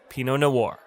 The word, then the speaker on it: Pinot Noir: That's how you pronounce Pinot Noir.